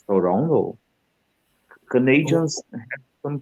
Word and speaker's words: Toronto: How did you how did you how did you pronounce Toronto? It's Toronto.